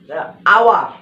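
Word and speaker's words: hour: মনে করো এস এর উচ্চারণটা তোমার আওয়ার ঘন্টা, এটা হাওয়ার হওয়ার কথা ছিল।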